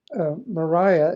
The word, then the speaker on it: Mariah: and by the way technically she pronounces it it's spelled Mariah okay but for some reason she pronounces it Maria I'm not sure why